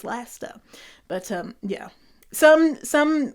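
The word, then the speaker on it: Leicester: get it why he said lie sister but the cabbie was laughing at him and I was laughing at him saying like no you dingleberry it's Lester but um yeah some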